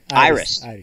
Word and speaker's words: Iris: Iris. All right, Iris. Yeah, that's funny. Iris is how you pronounce it. So Iris will be the